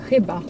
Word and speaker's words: chyba: So for example, when you have a word, let's say, which is called maybe, so that's in Polish CHYBA, so we pronounce it chyba.